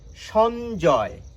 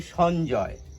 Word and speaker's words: সঞ্জয়: প্রমিত বাংলায় এই কারণে বানানে দন্ত স থাকলেও আমরা কিন্তু তালব্য স উচ্চারণ করে থাকি আমরা বলি সঞ্জয় গুঞ্জন এভাবে আমরা উচ্চারণ